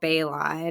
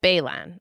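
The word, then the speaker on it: Baylon: do you pronounce it Pascal Bor but it is Pascal Balon okay yes so he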